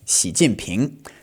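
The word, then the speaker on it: 习近平: And if we say the whole thing together, it's going to be second tone, fourth tone, second tone. Xi Jinping.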